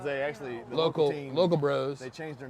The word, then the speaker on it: Brow: their last name is Bro, Yeah, spelled B-R-O-S. that's BROW. Oh, it's B-R-O-W? Yeah, the local bros are BROW. Oh, But okay. it's pronounced bro. Not Brow, Bro.